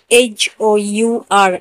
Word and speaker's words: hour: आवर, HOUR, आवर, और आवर ने भी ओ से पहले एज है तो हम एज का उच्चारण नहीं करेंगे।